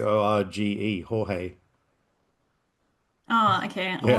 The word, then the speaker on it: Jorge: the actor George Porcel, I'm Hmm. guessing, Jorge. Argentinian actor. What? Jorge. That's actually how you pronounce It's Jorge.